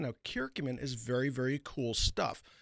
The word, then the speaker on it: curcumin: Pancreatitis, curcumin, that's spelled curcum i n. Now, kurcumin is very, very cool stuff.